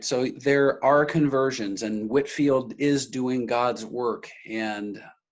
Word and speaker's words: Whitefield: us to whitfield so i know it looks like whitefield the pronunciation is whitfield the brits like to do that to us from time to time um whitfield had